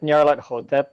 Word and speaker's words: Nyarlathotep: I pronounce it Nyarlathotep because Hotep to be like the Egyptian.